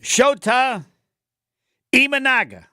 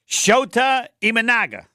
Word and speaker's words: Shota Imanaga: Then we'll have Jason Wilde and Tim Van Vorn and Shota Imanaga.